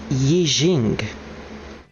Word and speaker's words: I Ching: apparently druid found a full wiki article on ai ching uh oh it's actually pronounced yi jing usually translates as book of changes or classic